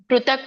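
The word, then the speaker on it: ಪೃಥಕ್: ಮಾತಾಜಿ ಅಂತ ಬರಬೇಕು ನೋಡಿ ಪೃತಕ್ ಪೃತಕ್ ಋ ಬರುತ್ತೆ ಅಲ್ಲಿ ಋಷಿರು ಋಷಿ ಬರೀತೀವಲ್ಲ ಆ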